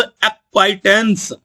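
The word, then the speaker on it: acquaintance: हैं उनको कहते हैं अ क्वाइट अ क्वाइट स्पेलिंग और प्रोनंसिएशन पर ध्यान दो एक्वाटें नाना को कहते हैं मैटरनल ग्रैंडफादर और नानी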